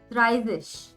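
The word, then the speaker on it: dreißig: the first lecture it means double s the pronunciation of asset is double s so 30 is called as thrivish 31 is quite similar to what we did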